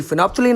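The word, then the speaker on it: phenolphthalein: ऐसे ही फिनोप्थलीन है, फिनॉल नहीं फिनोप्थलीन, थोड़ा इसका याद रखना।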